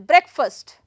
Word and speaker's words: breakfast: So, let us talk about these things once again, that if it is a breakfast, where to put the stress? I am going to put the stress on first syllable, right? On the first syllable, breakfast.